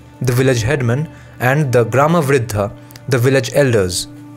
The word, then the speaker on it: Gramavriddha: Gramavriddha. Any Indian who knows any Indian language should know this. In Bengali, we would just pronounce it as Gramvriddho.